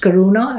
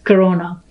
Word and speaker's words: Karuna: And I remind people that my name is pronounced Karuna and not Corona.